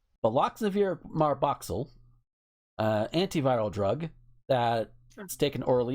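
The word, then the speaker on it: Baloxavir marboxil: Baloxivar Marbach. I'm gonna click on it so I can know how to fucking pronounce the damn thing. Here this is. Baloxavir marboxyl. Baloxavir marboxyl, antiviral drug that's taken orally in the treatment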